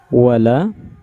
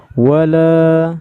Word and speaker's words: wala: Cara bacanya wala, cukup. Wala taqrabuz zina. Ini panjang. Ini cuma 2 harokat. Wala jangan dipanjangin wala, itu salah ya. 2 harokat itu cukup 2 harokat saja, 2 ketukan.